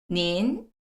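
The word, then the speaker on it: 您: 발음 한번 보실게요. 올라갑니다. 이번에는 닌, 닌, 닌.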